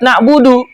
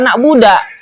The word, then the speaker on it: na'budu: Demikian pula orang yang salah membaca Fatihah tadi yang tidak mengubah makna seperti memfatahkan dalnya lafaz na'budu. Harusnya iyyaka na'budu, dia bacanya iyyaka na'buda.